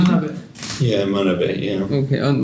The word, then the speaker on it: Manabe: Manabe, is this the right pronunciation? Manabe.